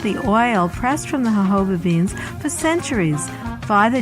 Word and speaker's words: jojoba: Z on this edition of the natural medicine chest will discuss jojoba the miracle plant of the desert Ahava is spelled jo-jo ba but is pronounced according to its Spanish origins the hobo plant grows